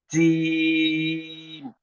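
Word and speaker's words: جيم: Jim has to be pronounced when the middle of the tongue strikes with this part of the mouth, upper part of the mouth.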